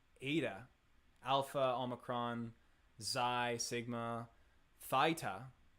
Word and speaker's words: eta: yeah yeah yeah omicron oh omicron i was pronouncing omnicron i'm kappa delta lambda beta tau phi it's not eta it's ada alpha omicron zai sigma thyta oh that's interesting